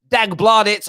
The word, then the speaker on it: Dagbladet: And then Norwegian outlet, this is how you pronounce their name. Dagbladet, over 1.5 million readers per day have claimed